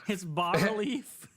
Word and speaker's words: bas relief: it's bas relief.